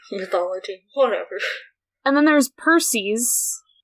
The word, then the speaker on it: Perses: And then there's Perses. Not Perseus, not Percy. Perses? Perses. God of destruction.